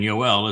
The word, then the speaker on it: Yoel: The oh sound in Yoel is from the wah.